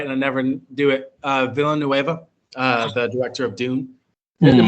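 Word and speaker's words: Villeneuve: Same with, and I'm not going to pronounce this right, and I never do it. Villanueva, the director of Dune.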